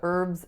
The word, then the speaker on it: herb: so the word is herb so she likes to cook with a lot of herbs and spices so as you can hear the H is not pronounced in most varieties of American English however in Canada the